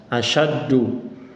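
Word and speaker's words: أَشَدُّ: Yang pertama asya, sya tebal, sya, asyaddu. Tapi ketika amis sama tipis. Ulangi dulu. Aantum asyaddu khalqan amis sama'u banaha.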